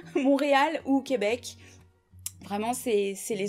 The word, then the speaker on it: Montréal: Je serais plutôt partante pour partir du côté Québec, Montréal, je crois, Montréal, je crois que le T se prononce pas, Montréal ou Québec.